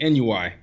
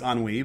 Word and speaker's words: ennui: I always thought it was NUI. So thank you for teaching me that. No, my pleasure. As far as I know, it's ennui.